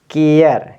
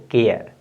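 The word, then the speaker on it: care: इसको ठीक है ना केयर क्या पढ़ेंगे सी ए आर ई को केयर क्या पढ़ेंगे केयर इसी तरह से लिखेंगे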